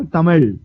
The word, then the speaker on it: Tamil: क्या मेरा रूममेट था तमिल. Oh, Tamil. That L is very hard to pronounce.